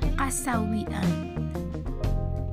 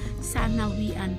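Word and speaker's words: سنويًا: pala na kada taon, ibig sabihin nung kada taon is kasawian o sanawian, maganyan siya, sanawian o kasawian. Binibigla kasi nila kaya, pero ang totoong pronounce nun is sanawian.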